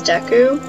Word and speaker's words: Deku: just removed one eye I'm guessing you pronounce it as Deku but when I was little I used to pronounce it as a Dookie scrub now that's a good